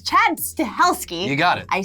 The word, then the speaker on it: Stahelski: can never say his name right, it's Chad Stahelski.